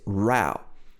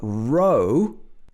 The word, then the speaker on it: row: his wife shouting loudly so this is rao but ro let's look at two